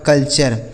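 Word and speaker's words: culture: यू आर ई तो सी यू एल से दोस्तों हो गया कल और टी यू आर ई से चर यह लिखा आपका कल्चर एल ई सी टी यू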